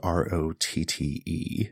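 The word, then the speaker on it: Rotte: That is spelled R-O-T-T-E, and I believe it's pronounced Rot.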